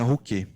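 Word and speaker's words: Ruchè: E aí tem 3 histórias, né, que explicam a origem do nome Rouquet, né, que escreve Rocher com o acento, mas eles pronunciam lá na Itália Rouquet.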